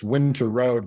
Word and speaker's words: Winterowd: last name is unique it's winter road but it's spelled winter owd so it looks like